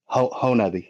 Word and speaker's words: Honobia: Honobia. It's pronounced.